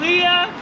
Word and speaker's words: Lia: Most people say Na, but most but I use the last two letters of my first name. So, it's L I A Leah. So, it's much easier to pronounce, trust me.